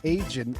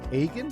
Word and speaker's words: Agin: Agin is not right. It's Agin. How did you say it? Agin. Yeah, Agin. Hard G. Hard G.